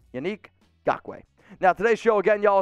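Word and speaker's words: Kwiatkoski: best e according to pff jt douglas in gok way unfortunately that's not how you pronounce it so you'll see not gok i know you keep saying that but he literally said in an interview it's gawkway i mean it's i've talked to i've talked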